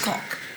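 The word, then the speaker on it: caulk: Coke, C-A-U-L-K, Coke. Ah, I think it might be pronounced Coke.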